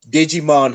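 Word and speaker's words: Djimon: to say his name the d is silent what did you say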